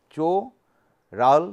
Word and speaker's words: Czochralski: is known as the Czochralski technique. What is the pronunciation, the pronunciation is the CHO-HRAL-skee; that means, this the pronunciation of this is Czochralski cho ral skee, C H O H R A L hral s k ee.